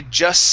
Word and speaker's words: just: Now with just and words that start with S after them, okay, we do not have to pronounce this T.